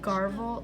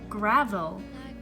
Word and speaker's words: Gravel: It's Gravel. And like, that's not hard, but I keep saying Garvel in my head, and then I have to correct myself, and I'm like, wait, which one is it?